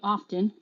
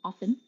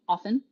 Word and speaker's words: often: English Chantal stop saying often it's often once again often same as whistle Castle bristle Hustle the t is silent and in the word